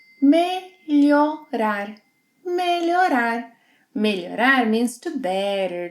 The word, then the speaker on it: Melhorar: Melhorar.